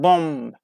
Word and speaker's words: bomb: And some Latin words have also entered English, adopting this ending, like bomb, aplomb, and tom. So this silent b gives us one of the strangest like homographs in English.